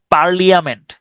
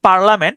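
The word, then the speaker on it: parliament: উচ্চারণ করতে পারেন সেই পারলিয়ামেন্ট উচ্চারণটা হচ্ছে পার্লামেন্ট কিন্তু আপনার সুবিধার জন্য আপনি উচ্চারণ করতে পারেন পারলিয়ামেন্ট পি আর পার এল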